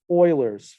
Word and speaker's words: Euler: look at something called euler's formula right here now euler's first of all this word is pronounced euler like it's like oil or if you want